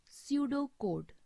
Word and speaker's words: pseudocode: They are normally written in pseudocode or drawn as a flow chart. Pseudocode. It spells Pseudocode. In this word, P is silent and we will pronounce it as a pseudocode.